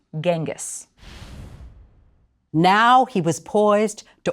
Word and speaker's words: Genghis: leader or Universal ruler eventually that name became Genghis Khan with the more familiar spelling and in the west it was eventually pronounced Genghis now he was poised